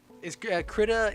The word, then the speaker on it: Krita: Yeah, Krita's free. Krita is like how the British say it. Americans say Krita, but I don't think it really matters.